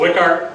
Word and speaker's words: Wichhart: It's called Wichhart, is my last name. That's how it's pronounced, and it's Wichhart Acres.